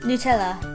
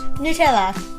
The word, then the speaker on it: Nutella: Nutella. Nutella. You would say what? Nutella. Nutella. We would say Nutella. Nutella. So nu and na, basically.